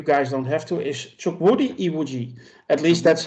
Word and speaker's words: Chukwudi Iwuji: and then you guys don't have to, is Chukwudi Iwuji. At least that's how I would pronounce it. If he's American, it would be probably Chukwudi Iwuji, but let's just...